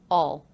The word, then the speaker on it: I'll: and did you notice the contraction aisle again pronounced with the aw as in law vowel reduced to all all all all and